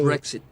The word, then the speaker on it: Brexit: Qual é a pronúncia? Brexit. Brexit, que é o seria British British exit, né?